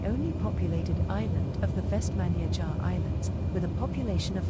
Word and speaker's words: Vestmannaeyjar: So let's just perform one more turn around here, and then we'll come into land at, finally I got it, Vestmannaeyjar. It's not Menyar, it's Menyajar.